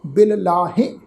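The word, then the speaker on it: ਬਿਲਲਾਹਿ: ख्याल रखना है, पाठ उच्चारण करांगे अंत कारण केते बिललाहे, हाहे नूं जिहड़ी सिहारी आ इत्थे नाल बिंदी लगा के प्रनाउंस करांगे, बिललाहे हे प्रनाउंस करांगे, बिललाहे।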